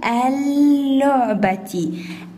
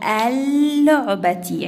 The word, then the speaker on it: اللعبة: اللعبة. عندي شدة والشدة يخرج منها حرف ساكن وحرف متحرك. إذن عندي يا أول ال هكذا لعبة تي هكذا تكون الكلمة. ال ينزلان هكذا لأن اللام الشمسية تكتب ولا تلفظ.